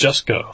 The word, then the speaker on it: Jusko: Or how is his name actually pronounced? Jusko.